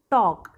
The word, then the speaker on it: talk: look at the word talk। talk में इधर I silent था, देखो TALK जो टॉक होता है उसमें I साइलेंट होता है।